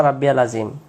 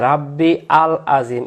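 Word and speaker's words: رَبِّيَ الْعَظِيمِ: সুবহানা রব্বিয়াল রব্বিয়াল আজিম আমরা এই জায়গায় কি বলি এই জায়গায় রাব্বি আল আজিম এখানে আল বলতে না এখানে রব্বি ইয়া লাম জবর ইয়াল তাহলে এখানে রব্বিয়াল বলতে হবে প্রথম থেকে সুবহানা রব্বিয়াল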